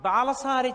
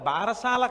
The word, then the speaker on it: బాలసారే: గబగబ తల ఏదో బాలసారే చేస్తుంటారు బాలసాల కాదు బాలసారే బాలసారే అంటే బాలునకు ఇస్తున్న సారే కానుక దాని బాలసాల బాలసాల బాలసాల ఎంత భారమైనా ఎక్కించారు అసలు దాని ఉచ్చారణ బాలసారే బాలసారే యందు ఆ ప్రసవమైనటువంటి తల్లి